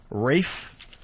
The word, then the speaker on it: Ralph: want to say this I think Rafe even though his name is spelled Ralph yeah Ralph finds its